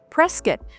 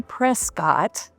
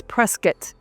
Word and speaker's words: Prescott: So number three on the list would be Prescuit. Now we don't say Prescott. That's what I always used to say for many years until I moved to Arizona. I'd say, "Oh, up in Prescott." No, it's Prescat.